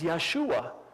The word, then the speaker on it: Yeshua: law and Joshua which by the way is Yeshua it's Jesus that's the Hebrew for Jesus we don't pronounce the J in in Hebrew so yeah